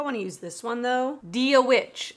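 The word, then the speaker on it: Dia dhuit: Dia Witch, I think is how you say it.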